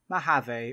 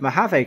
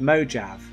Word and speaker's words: Mojave: Last year when the beta of Mojave came out, when I first read it, I thought it said Mojave.